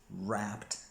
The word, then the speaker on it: wrapped: past so the rapper's wrapped their most famous song there is no W but because it the W is silent here we say the same